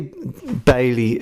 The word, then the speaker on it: Balliol: Now, you can say Bailie because it's always written down as Balliol with an L, and in the documentaries they do pronounce the L, but it was a Norman French name and sometimes they didn't pronounce the L, and that's how it eventually changed from Balliol to Bailie.